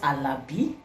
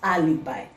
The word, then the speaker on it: alibi: and that is Alibi please note that it's not alabi it's not Alibi it's